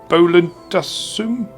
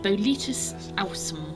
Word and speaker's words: Boletus Ausum: The other one that's, I say, potentially a good thing is I can't pronounce this one, but the Bolentasum? It's on page 7. Boletus space AUSUM. Oh, that one. Boletus Ausum, Yes, call it.